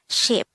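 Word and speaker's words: 십: set of 10 but this should simply be pronounced as ship next is number 20.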